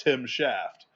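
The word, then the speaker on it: Tim Schaft: you can it's pronounced tim shaft shaft but there's a c in shaft and he can't pronounce it and can't hear it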